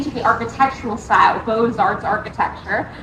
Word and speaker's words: Beaux-Arts: And that lends its name to the architectural style, Beaux-Arts architecture. That's spelled B-E-A-U-X. Remember, it's French.